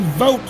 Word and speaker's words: Vote: same human that Aaron vote currently starting in six. I can't pronounce his name 100% right. Vote is correct. V O T E spelling is how it's pronounced.